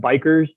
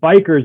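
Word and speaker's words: BiCRS: and sequestration and one depend on how you pronounce it I call it bikers biomass carbon removal and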